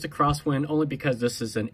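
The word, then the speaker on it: X-Wind: IND so tactically X win but it's a cross wind only because this is an aviator style watch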